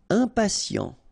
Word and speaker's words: impatient: Impatient. Okay, remember, final T not pronounced. And then you've got this T, I and a vowel, so sien.